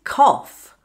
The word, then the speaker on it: cough: And next is cough.